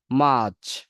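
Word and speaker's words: March: ফেব্রুয়ারি ফেব্রুয়ারি জানুয়ারি February মার্চ মাচ আমরা বললাম যে ব্রিটিশ ইংলিশে আপনার এই যে আর এর পরে উচ্চারণ হয় না তাহলে কি হবে মার্চ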